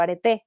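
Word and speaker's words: areté: una arete o virtud, así como arete, pero arete con acento en último.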